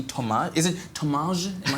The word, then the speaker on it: Thomaz: Is it Thomaz? Am I saying it right? Thomaz, because it's got a Z at the end there.